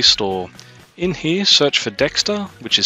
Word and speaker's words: Dexta: PDE subheading click on enable PT mate and Dexter support and then add a dexter device at